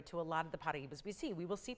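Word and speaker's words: Paraíba: If you're thinking, isn't that Paraiba? Or some people say Paraiba. It's, again, however you pronounce it, it's Paraiba. And it is that Brazilian state, so with a little bit of a Portuguese accent to say it properly.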